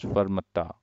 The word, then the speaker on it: Kfarmatta: It's starts with Kfarmatta, but it's pronounced as Farmata in Lebanon.